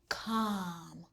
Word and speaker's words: calm: L-M says m. The L is silent. K-a-m, calm.